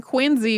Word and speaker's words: Quincy: you may wonder why why we're pronouncing the name quiny with a z in it when quiny is quu I ncy uh that is not